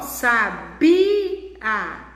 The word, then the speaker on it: sabia: Ó, sabia. A sílaba tônica aí é o bi.